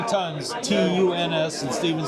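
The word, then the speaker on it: Tuns: And now we're walking over to a place called the 3 Tons, possibly the oldest place in town. Tons. You sure? Ton, yeah. You sure it's pronounced ton?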